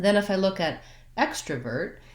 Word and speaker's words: extrovert: It sounds like so I have extra, and then again, same ending, vert, extrovert.